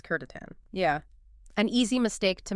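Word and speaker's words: C'tan: It's spelled Tan, but the correct pronunciation is Kurtatan.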